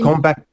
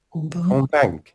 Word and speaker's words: convaincre: Convaincant. Non, on ne prononce pas la terminaison. Convaincre.